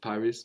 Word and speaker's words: Paris: In fact, in the Hunchback of Notre Dame, no, Notre Dame de Paris, of course we don't pronounce the final S of Paris, of Paris, no.